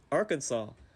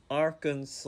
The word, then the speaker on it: Arkansas: I just know that the S is silent, just like the T in my name.